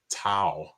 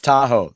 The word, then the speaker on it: Tahoe: he just said tahoe but he didn't pronounce it tahoe he called it tau and i don't know why that's so funny like down south they call it new orleans tao it's tahoe that's what i said here's